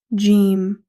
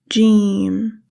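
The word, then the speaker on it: جيم: Jeem. In English, we say like J in jump. And also, jeem is a light letter as we are pronouncing it naturally. Now, practice with me. Jeem.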